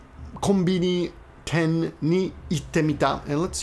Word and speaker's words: 店: Ten, this can be pronounced mise, or in this case, ten, is when it's added to something, it's ten.